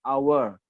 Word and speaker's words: hour: cara baca ya tadi sudah saya jelaskan kayak hour tulisannya Ha Tapi bacanya A jadi n nah ini tulisannya you